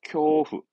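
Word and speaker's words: 恐怖: 발음은 쿄후입니다. 쿄후.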